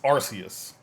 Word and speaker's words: Arceus: Legends Arceus. That is how you say Arceus.